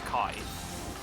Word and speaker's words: Chi: pun on keyblade yeah they pronounce it key which is wrong because like the greek letter is kai um but i think